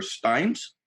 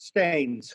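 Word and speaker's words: Steans: uh state senator heather steins steen's i'm sorry if i i'm terrible at pronouncing that pronouncing names she's saying it's like what you spilled on your shirt stains stains thank you so much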